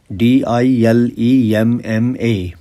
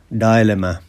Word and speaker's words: dilemma: what is a dilemma d i l e m m a dilemma and some people also call it dilemma and both pronunciations are common dilemma or dilemma what is it a